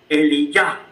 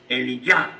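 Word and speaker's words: אליה: Y entonces se pronuncia Eliyah. Le falta la U. Eliyah.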